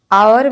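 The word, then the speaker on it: hour: आवर में H silent है, आ से उसका प्रोनाउंसिएशन आ रहा है, इसलिए यहाँ पे एन लगेगा।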